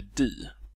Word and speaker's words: de: svenska språk att det vanligen uttalas di men att under senare tider har formen de i allt större utsträckning börjat användas också som subjekt särskilt i mellansveriges talspråk Han skriver att Ännu för några årtionden sen hade uttalet di en stark övervikt i södra Sverige men svelands och Norrlands formen de har hastigt utbrett sig över hela landet Det